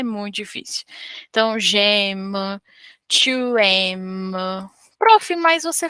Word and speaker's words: J'aime: Eu não posso falar Geaime. Eu não posso falar G e depois M, depois de um tempo M. Não, eu tenho que falar tudo junto. Eles não estão separados.